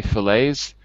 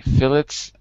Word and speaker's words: fillet: in british english say phillips that seems a weird thing because it's a french word so i as far as i know it's a french word so normally we don't pronounce the t anyway i definitely would say